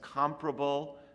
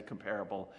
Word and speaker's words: Comparable: Some people like to pronounce that as comparable. I guess there's a battle within the Java community. Actually, I think it's almost evenly split between people who will say comparable and people who say comparable.